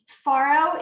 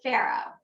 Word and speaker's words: farro: Farro in general, and it's debatable whether it's Farro or Farro.